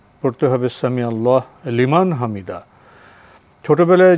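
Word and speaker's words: سمع الله لمن حمده: এটাই বিশুদ্ধ উচ্চারণ কারণ সামি আল্লাহ এবং লিমান হামিদা এই দুই এর মধ্যে কোন ধরনের ফসল নেই ফসল মানে কোন ধরনের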